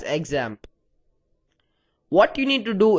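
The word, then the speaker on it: XAMPP: You can also call it ZAMP and that's how it's supposed to be pronounced. However, I'll just refer to it as examp.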